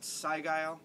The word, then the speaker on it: Sigil: Sigil. Sorry, I didn't realize you grabbed that. We're thinking a lot alike this week. It's pronounced Sigile.